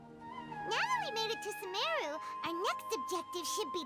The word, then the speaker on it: Sumeru: Sumeru, our next objective should be to head to Sumeru City and find a way to Sumeru. meet with Lesser Lord Kusanali. Ah, it's Sumeru. I've been pronouncing it Speaking wrong.